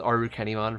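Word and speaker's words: Arukenimon: like that like with aru kennymon for example like it's definitely arachne mon but they would pronounce arachne in japan as aru kenny so it makes sense but uh okay so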